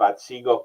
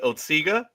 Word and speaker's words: Otsego: It's the Otisaga Hotel, but it's Otsego Lake. So you put those two pronunciations together, Roger.